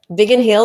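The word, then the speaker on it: Biggin Hill: big and Ill did I say it properly big and Hill yeah big and Hill in the UK and he developed a love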